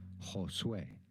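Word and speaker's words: Josué: name of spanish origin how do you go about pronouncing it in spanish it would be said as josue josue however english it is usually said as way oh josue okay so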